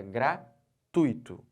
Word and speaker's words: gratuito: tui como sílaba tônica eu não posso separar gratuito não posso fazer isso não senão vou pronu nciar errado então certo é gratuito tá bom Aqui Onix